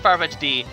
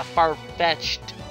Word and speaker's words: Farfetch'd: I always call it Farfetch'd D. People are like, what the hell's wrong with you, Lucky? He's not a Farfetch'd D, he's a Farfetch'd. Well, there you go, I said it right now.